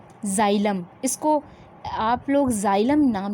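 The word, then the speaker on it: xylem: पहला है जाइलम, इसको आप लोग जाइलम नाम लेंगे, एक्स जो है जाइलम, ठीक है, प्रोनाउंसिएशन ठीक करिएगा, जाइलम।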